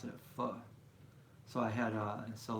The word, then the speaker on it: pho: That's how you pronounce it, pho.